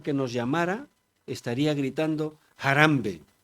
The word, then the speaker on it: Harambee: Ellos dicen jarambe con el acento en la jarambe.